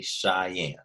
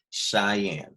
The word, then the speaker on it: Cheyenne: paint it's called Cheyenne everybody say Cheyenne Cheyenne okay Cheyenne it's spelled differently it smells C h